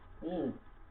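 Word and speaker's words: ح: তারপরে হা, এটা গলা থেকে নরম হ বের হবে, একটু ফ্যাস ফ্যাসা শব্দ দিয়ে আমাদেরকে কি করতে হবে? এই হাটা উচ্চারণ করতে হবে। গলা থেকে নরম, একদম নরম করে আমরা হা উচ্চারণ করবো, হা।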